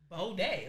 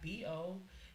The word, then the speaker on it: Baudet: Baudet, like Boday, capital B.